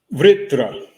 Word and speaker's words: Vṛtra: Vṛtra. Vritra. Okay. Vṛtra. It's a V, and it has a little R attached, and then Tra, which is a compound consonant.